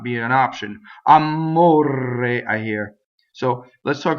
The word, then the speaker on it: amore: So let's talk about amore, the word for love. It has a closed O. It rhymes with fiore in this case.